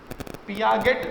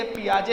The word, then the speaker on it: Piaget: पियागेट, पियागेट नहीं है, ये पियाजे है।